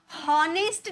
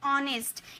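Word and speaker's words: honest: होनेस्ट नहीं बोलते। एच हमारा साइलेंट होता है। तो हम बोलते ऑनेस्ट।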